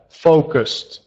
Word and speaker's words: focused: have both Fus that's so you have to pronounce that ending sound with the Ed I have focused focused yeah perfect good